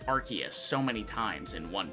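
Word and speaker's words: Arceus: Some dude in the comment section was like, "I've never heard someone mispronounce Archus so many times in one video." Like, cuz I was saying Arus cuz that's how I've always said it.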